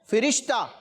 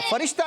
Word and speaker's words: فرشتہ: اچھا فے کے نیچے زیر ہے بچوں, فرشتہ نہیں, کیا ہے؟ فرشتہ. اس کا درست تلفظ کیا ہے؟ فرشتہ. فا کے نیچے زیر ہے, فرشتہ نہیں بلکہ فرشتہ.